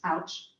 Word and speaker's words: OWCH: From the outside, the Older Women's Co-housing Project, pronounced ouch, looks like a normal, stylishly designed new complex of apartments.